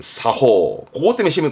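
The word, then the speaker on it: 作法: 작법이라 써놓고 사끄호 해버리면 그거는 물건을 만드는 법인데 그건 시험 때 안 나오고, 발음은 이걸 챙겨야 돼. 여러분, 사호.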